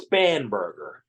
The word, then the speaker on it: Spanberger: nun and Abigail spanberger I'll make sure I pronounce that correctly it's spanberger have jointly introduced the creating